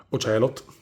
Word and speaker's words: Ocelot: Naked, Snake, Oceleot, Ocelot, così perché ragazzi questa è la pronuncia Ocelot.